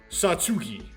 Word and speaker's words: Satsuki: from gotcha surprise surprise Emma Suki or I think it's like Japanese um so it's like Satsuki Satsuki the tea is like part of the second syllable uh iranami nice to